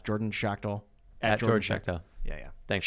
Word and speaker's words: Schachtel: to shout out your twitter uh it's jordan shakhtal yeah yeah thanks shaq tail is how you pronounce it correct thanks man thanks for coming